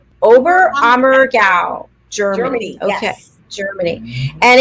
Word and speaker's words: Oberammergau: Oberammergau. Oberammergau, Germany.